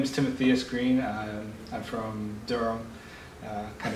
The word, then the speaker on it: Timotheus: When you see it spelled, you might want to pronounce it like Timotheus or something like. Well, from I like Greek. I like Timotheus. So it depends on how you rhyme with like Amadeus.